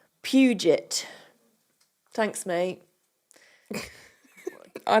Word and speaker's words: Puget: Oh, so Goobs just said, what I said was Puget. So University English of sounding. Puget is actually pronounced Puget.